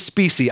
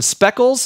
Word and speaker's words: Specie: My last name is Specie. I have gotten Speckles, Spacey, Spicy, Species, literally every pronunciation on the planet.